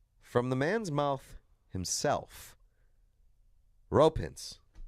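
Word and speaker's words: Roope Hintz: Well, from the man's mouth himself, ropins. Ro. Oh my god. off. Rope. Like basically one word.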